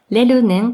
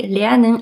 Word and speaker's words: lernen: führen sein ein Beispiel das deutsche Wort lernen ist manchmal in Katakana als lunen geschrieben wir aber tatsächlich eher wie lernen ausgesprochen außerdem ist es für